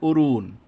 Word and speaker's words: অরুণ: যেমন আছে অরুণ এখানে আমরা কি বলব অরুণ বলি না আমরা কি বলি অরুণ এবং অবশ্যই দেখেন এখানে